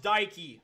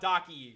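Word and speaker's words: Dakine: I'm told this is pronounced Daiki, not Daki.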